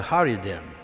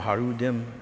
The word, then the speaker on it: Haredim: a group called the Haredim, okay? Either Haredim or Harudim, however they want to pronounce it.